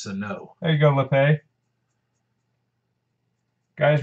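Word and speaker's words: Sanó: It's pronounced Sano.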